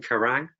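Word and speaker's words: Quiraing: of Skye on a mountain race called the karang pronounced as in The Heavy Metal magazine karang and this tree also if you've got Amazon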